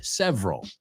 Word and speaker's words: several: Nos comemos la segunda, several, right? No tres sílabas, sino dos.